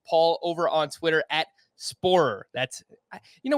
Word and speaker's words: Sporer: over on twitter at sporer that's you know whenever i say your name i feel like i'm not like pronouncing the last part of it it's like spoiler spoiler yeah you follow him